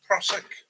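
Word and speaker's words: Prusik: Prosic knot, pronounced Prosic, or alpine climbing knot.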